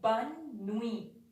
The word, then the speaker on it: bonne nuit: It is spelled as bonne nuit, bonne nuit.